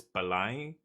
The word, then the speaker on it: Belém: Yeah, the Tower of Beleng, basically. Portuguese spelling is so... It's weird. Belém, that's what it looks like, but it's Belém.